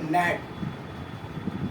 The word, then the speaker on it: gnat: क्योंकि उनको पता नहीं था कि जी साइलेंट है यहाँ पे। तो यहाँ पे हमने बोला कि एन से पूर्व अगर जी आ जाए तो वहां पे क्या हो जाएगा? जी साइलेंट हो जाएगा और ये पढ़ाएगा यहाँ से नेट।